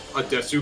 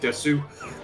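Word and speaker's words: です: She's the one who pronounces it Desu. Which is just sort of like a thing, mostly with cutesy Japanese characters. Yeah, because it's usually meant to be des.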